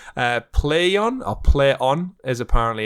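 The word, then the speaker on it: Plaion: something just as weirdly awkward and spelled uh play on i'll play on as apparently it's pronounced uh spelled p l a i o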